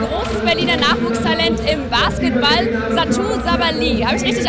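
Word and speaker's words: Satou Sabally: Bei mir ist nun ein großes Berliner Nachwuchstalent im Basketball, Satou Sabali. Habe ich richtig ausgesprochen?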